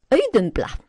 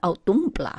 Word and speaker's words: Auðumbla: Auðumbla, soft auðumbla, not ádumbla at all.